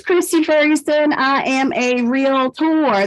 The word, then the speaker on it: REALTOR: Ferguson I am a real tour that is pronounced with two syllables and when you write